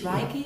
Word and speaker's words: Reiki: We call it, it's Reiki, it's a traditional healing system, and we're giving courses and treatments.